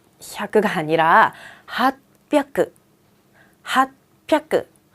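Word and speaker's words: はっぴゃく: 그런데 핫지 혀끄라고 하지 않고요. 핫하고 변했어요. 핫하고 힘이 들어간 순간 뒤에는 세게 읽게 돼 있어요. 그래서 핫 혀끄가 아니라 핫뼈끄.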